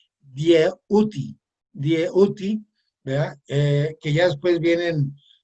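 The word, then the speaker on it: Djehuty: Bien, eh, este, para mí, para algunos de nosotros, para mí particularmente, Hermes Trismegisto, que en egipcio se pronuncia Dieuti, ¿verdad?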